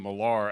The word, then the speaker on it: Millar: As she said, I'm Millar, actually. That's Miller spelled with an A.